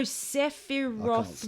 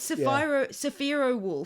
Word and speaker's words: Sephiroth: help's pronouncing the name is it sapphire wolf or sophia oh sephiroth wolf is that how you say it in my head i've always said sapphira which is completely completely wrong anyway fantasy reference i